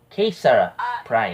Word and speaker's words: KisaPrime: pronounce how are we going to pronounce your name. Kisa Prime.